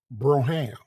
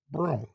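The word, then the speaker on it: Brougham: Oldsmobile is the broom some people call it broham but the right pronunciation is Brown not broham broom that's the right pronunciation it's spelled b-r -a-h-a-m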